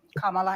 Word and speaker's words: Kamala: Well, let's let's um Kamala, and I'm calling you Kamala because for all of those who are mispronouncing it, I want you all to know how to say it.